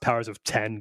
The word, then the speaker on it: Powers of X: i think it's pronounced powers of ten the x is supposed to be the roman numeral so house of x